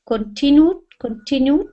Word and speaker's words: continued: He continued continued. Continued. Yeah. Don't stress the beginning. Stress the tin.